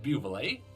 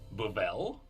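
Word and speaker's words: Buvelle: we learned that the family's name is not pronounced Buble it is bubble it makes more sense yeah the dependence higher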